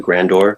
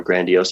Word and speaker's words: grandiose: grand grand how do you say that word grandor grandio ideas grandos I had more grandiose ideas of my life I wanted to like